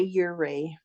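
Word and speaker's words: Ouray: How do you pronounce it? What's the Ure? We say Ure.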